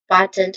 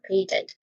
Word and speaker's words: patent: When it comes to pronunciation, there's two um ways to say this. First is patent where of the first syllable pay. It has a dip thong sound a or you can say it is patent where the first syllable uses a short uh vowel sound.